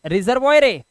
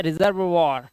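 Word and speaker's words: reservoir: से इसे क्या पढ़ेंगे रिजर्वॉयर ऐसे ही लग रहा है ना देखिए रिजर्वॉयर लिखा है नहीं इसे पढ़ते हैं रिजर्व वर क्या पढ़ेंगे रिजर्व वर दोस्तों रूल नंबर 30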